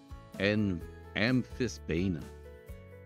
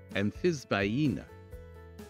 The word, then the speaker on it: amphisbaena: And there are a number of ways to pronounce this. AMPHISBAENA. AMPHISBAENA. AMPHISBAENA. AMPHISBAENA. There are all sorts of ways. All of them are correct.